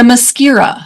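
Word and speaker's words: Themyscira: that Oh, the Mascira. Huh? The Mascira. The Mascira. Yeah, cuz it sounds like mascara.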